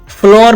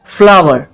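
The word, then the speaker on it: flour: pronounce किया जाता है यह जो आपके सामने वर्ड है इसको हम फ्लोर प्रोनाउंस करते हैं बहुत से लोग इसको फ्लोर प्रोनाउंस करते हैं जो कि गलत प्रोनंसिएशन है इसकी सही प्रोनंसिएशन है फ्लावर फ्लावर जिस तरह से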